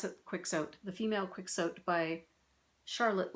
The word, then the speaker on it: Quixote: I just call it Quicksote but I've heard Keeshote as well. So, I'll be saying Quicksote and you'll have to just interpret that in your own head if you pronounce it otherwise.